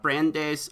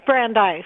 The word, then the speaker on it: Brandeis: besides that she attended brand days I think that's how you pronounce it Brandis friend its Brandeis Brandeis ok that's Brandeis University and Columbia and yeah